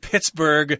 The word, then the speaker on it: Pittsburgh: I've heard of Pittsburgh.